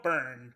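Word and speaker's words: Byrne: up um I mean it spelled burned but I should start saying it burn honor Swinton burn yes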